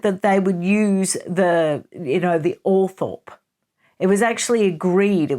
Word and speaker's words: Althorp: Now, I looked it up because the old-fashioned way of pronouncing it is Althorp. It's actually Althorp.